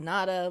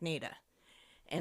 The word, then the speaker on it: Nada: found out I said I would think naturally this would be called NADA like deada but from what I know about the appan area is that towns are never pronounced the way you think there so it's probably pronounced with a long a like na and I looked it up and it is so NAA tunnel um formerly